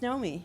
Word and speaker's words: Naomi: Naomi, and it's pronounced Naomi, right? It is pronounced Naomi. Like the sort of like early 80s avant-garde, new wave opera singer Klaus Nomi?